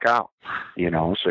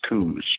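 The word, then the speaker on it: Coues: Here, these little coos deer, and some people pronounce it, it's weird. Phonetically and grammatically, it's coos, but a lot of folks here pronounce it cows, and apparently both ways are acceptable according to the DNR.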